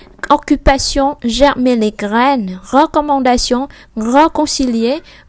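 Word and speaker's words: réconcilier: Tiếp theo on với N mình đọc là on, âm mũi on, rồi er ở cuối mình đọc e. Reconcilier, reconcilier.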